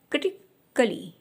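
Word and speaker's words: critically: इसी तरह से जब ए के बाद में डबल एल वाई आता है वहाँ पे ए का साउंड साइलेंट हो जाता है।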